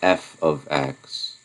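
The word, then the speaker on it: f(x): It's said f of x. Okay, and that's the way that's pronounced.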